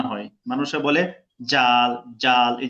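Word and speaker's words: ذال: মতোই উপরে এক নুক্তা, পড়তে হবে পাতলা করে, জাল, জাল, জাল। জাল হ্যাঁ, জাল এই জায়গায় মানুষে মিস করে কোনটা, আমি ভুলটা বলে দিব যেন না হয়। মানুষে বলে জাল, জাল, এই যে শক্ত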